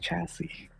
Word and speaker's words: chassis: That is pronounced chassis.